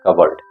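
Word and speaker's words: cupboard: इसका उच्चारण देख लीजिए, यहाँ पर पी साइलेंट है, कबर्ड।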